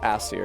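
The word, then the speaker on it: Æsir: Asir plural is pronounced Asir, yes.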